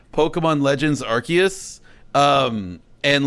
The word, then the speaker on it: Arceus: pokemon like uh arcsius this whole time i've been saying arceus the whole thing no it's because it's pronounced arceus uh yeah i guess